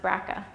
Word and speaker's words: BRCA: have heard of is BRCA mutations sometimes pronounced Braca and cancer risk so